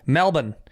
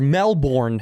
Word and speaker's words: Melbourne: We shot in Melbourne, or Melbourne, as Americans say it.